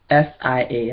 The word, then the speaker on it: Sia: Now, again, if you haven't heard of Sia, it's SIA, and I think I'm pronouncing it right, and it's Sia.